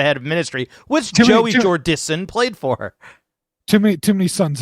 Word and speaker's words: Jordison: Jordison, so no N in the middle.